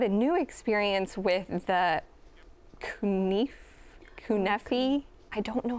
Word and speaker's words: kanafeh: But we had a new experience with the kunefi. I don't know how to pronounce That's it all right. correctly. Don't worry. Turkish dessert, kunefe.